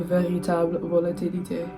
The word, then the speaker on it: véritable volatilité: A véritable volatilité. That's actually how you say it in French.